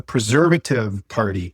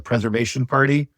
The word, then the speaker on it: Preservative Party: It's the Preservative Party. I called it the Preservation Party.